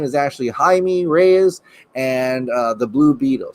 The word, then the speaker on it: Jaime: canary so let's get with that uh it's pronounced hi me thank you shane aspen yes i've had a lot of messages that i said his name wrong and i agree his name is actually jaime reyes and the blue beetle so thank you